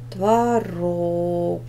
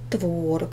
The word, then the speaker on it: творог: последний слог ударный метр творог ударный последний слог Хотя допускается произношение этого слова творог и тогда первым будет ударный ударный будет первый слог звонит ударный второй слог